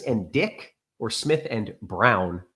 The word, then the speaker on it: Braun: Yeah, he's pronounced Brown for some reason.